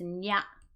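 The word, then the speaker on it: にゃ: But this one is a compound word, and it's nya, nya. The I is gone, nya.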